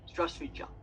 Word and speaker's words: Здравствуйте: And one of the points was that in that word, there's many letters, many letters, but in the speaking, a lot of the letters aren't said, and like students are saying, "Oh, we have to say very long," but actually, it's a very simple "Здравствуйте," just a very simple.